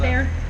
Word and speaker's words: Bexar: It is pronounced Bear, not Bexar.